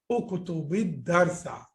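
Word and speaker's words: اكتب الدرس: Now actually it is Uktub, but you know that when there is Al coming after that and the rule of Sakinain, 2 sukun coming together, you will put Kasra over here. So you will pronounce it this way, Uktubid Darsa.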